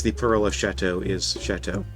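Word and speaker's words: châteaux: And yes, the plural of chateau is chateau. Spelled differently, but pronounced the same.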